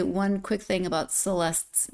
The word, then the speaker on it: Celeste: one quick thing about celeste's name so living in Portugal trying to learn Portuguese we do have a a neighbor whose name is Celeste but in Portuguese it's pronounced celest so I've gotten very